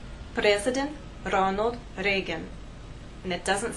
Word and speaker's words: Ronald Reagan: The correct pronunciation is President Ronald Reagan.